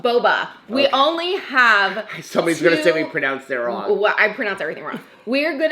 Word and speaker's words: Boba: Bobo or Boba? Boba.